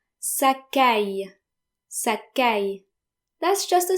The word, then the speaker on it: caille: And A-I-L-L-E is always pronounced like the English word I.